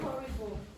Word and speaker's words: horrible: Horrible. Yes, you have 2. Horrible. So choose between Horrible. Okay. Horrible. It has an H, but we don't pronounce the H.